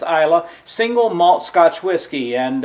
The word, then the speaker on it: Islay: one it's the ultimate isla and now that's i-s-l-a-y until i learned how to uh pronounce that i thought it was isla or isla or something like that but it's iowa single malt scotch whiskey